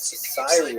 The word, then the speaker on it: Cyrene: I've looked it up and I've heard it pronounced as Cyrene in English. In Greek, it would have been something like Kurene. So I'm probably going to say Kurene, and I would be wrong,